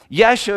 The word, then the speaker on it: Yeshua: Yeshua is how you'd say it in our language. Jesus is how you say it in English, but Yeshua comes from Yahashua, meaning God is salvation.